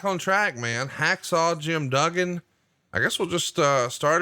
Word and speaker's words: Duggan: And then he would correct you, go, "That's Duggan, 2 G's. Duggan, Duggan, tough guy."